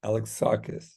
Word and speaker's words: Alexakis: come check out art alexakis exus said it right of Ever Clear like Alex saw the band KISS Alex siss there you go Alex